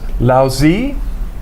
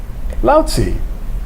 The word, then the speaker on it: Lao Tzu: these pronunciations right, as Lao Zi or Lao Tzu. There are different ways to pronounce these Chinese names, and I make no claim to speaking Chinese anywhere near adequately.